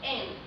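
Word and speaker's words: 円: In Japanese, it's pronounced en.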